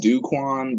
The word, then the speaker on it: Ducon: My original name is Ducon. Technically, it's pronounced Duquan, but it's like let's make it sound spicy.